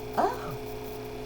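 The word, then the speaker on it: Oh: We might go O or O. Just depends on the punctuation. So this is capital O-H, and it's the word O. And there's no other way to sound it out. The H is silent.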